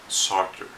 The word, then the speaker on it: Sartre: That's exactly how you pronounce it, Sartre. I'm not going to try to say that in French.